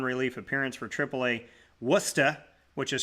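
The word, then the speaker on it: Worcester: He has a 3.09 09 RA in two starts and one relief appearance for Triple A Worusta which is spelled Warchester for those of you wondering and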